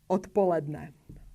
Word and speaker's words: odpoledne: So we pronounce the voiceless t, voiceless p, odpoledne, odpoledne.